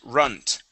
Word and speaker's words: runt: Let's get the T at the end of this word. The word is runt.